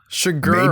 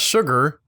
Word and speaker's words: Chigurh: Chigurh, maybe for the money? Chigurh? Chigurh, not sugar. It's spelled like Chigurh, but I think you're just hearing me wrong because it said Chigurh.